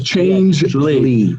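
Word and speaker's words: Changelly: How do you spell that, Case? Changely is CHANG. But it's Changely.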